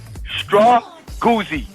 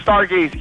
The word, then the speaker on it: Strawgoozy: AZ Wildcat 83, Joey, my man, let me get it right. Strawgoozy. How about that? I said it right. Not Stargazy.